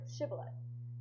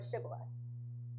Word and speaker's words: shibboleth: Basically, the Gileadites had the sound sh in their language, so the sh they could pronounce. However, the Ephraimites could not pronounce it. They would pronounce sh with an s sound, like sa.